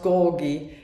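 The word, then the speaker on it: Georgi: It's Klaus Gorgi, because the G isn't pronounced G in German, it's G. So it's Gorgi, like George, you know, my friend in Berlin, he is called Georg.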